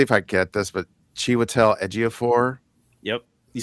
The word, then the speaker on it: Chiwetel Ejiofor: See if I get this, but Chiwetel Ejiofor, Yep, you said something it like right.